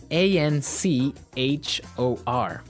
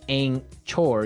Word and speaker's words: anchor: anchor now it's spelled a n c h o r right but you don't pronounce the CH as you normally would right another one of